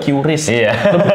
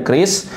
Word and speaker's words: QRIS: Kris ya bukanis bacanya ya. Kris bacanya Kris ya. Dulu saya juga Qis lebih enak itu baca QIS Kris ya. Ternyata Kris bacanya.